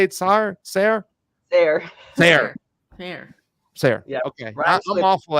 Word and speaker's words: Sare: Is it Sare or Sare, or how do you say it properly? Sare.